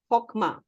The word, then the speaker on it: Chokmah: इसको प्रोनाउंस करते हैं हॉकमा, लेकिन इसका स्पेलिंग है CHOKMAH. I'll give you on the group also. CHOKMAH. Hokma.